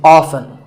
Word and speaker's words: often: Next up is often. Some pronounce this as often. Now, strictly speaking, often is not wrong, but the more common pronunciation is with the T silent. So I recommend that you always say often.